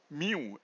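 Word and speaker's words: μ: the velocity V by actually is pronounced as mu and nu okay so it's different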